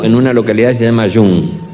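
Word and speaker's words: Young: Terminaba el domingo en una localidad se llama Yun. Se escribe Jun, le dicen Jun. Usted diga Jun.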